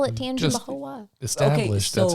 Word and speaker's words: Tangipahoa: Tangai paha. Y'all are overthinking it. For sure. It's Tangipaho. Tangipaho. Tangipaho. Tangipaho. Okay, we're definitely overthinking this. So ho is spelled HOA.